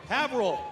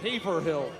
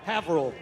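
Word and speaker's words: Haverhill: Havil. I used I had to but first time I moved up here I I had to pronounce it Haverh Hill.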